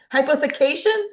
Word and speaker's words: hypothecation: Hypotheication. Hypotheication. Hi po. Sounds like a vacation.